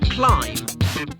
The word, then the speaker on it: climb: Think of the words co, lamb, climb. The B is silent, but you'll notice that the letter M comes before the silent B.